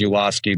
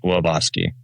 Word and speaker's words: Ulawski: So the the the the dumb down version is Yuloski, but the the Polish um pronunciation is Uvoski. Oh, okay. All right. Yeah. Avoski. Uavoski.